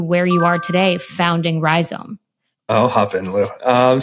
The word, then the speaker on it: Rhizome: that won't break the bank let's dive in ryome is that how you pronounce it correct uh it's a definition it's